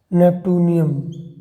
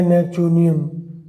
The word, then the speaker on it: Neptunium: देखो, नेपटूनियम या नेपचूनियम, whatever you pronunciate, it's on you.